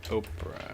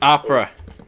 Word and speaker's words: Opera: same time opera opera oprah uh yeah on how's it spelled opera gx opera gx it's opera like the music no i refuse to pronounce things correctly i see but at